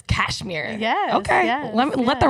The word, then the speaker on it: Kashmire: I totally have not been pronouncing the H. It's Kashmire.